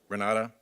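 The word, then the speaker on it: Renate: individual you know Renata Renata it's spelled with an e at the end re na te is direct okay and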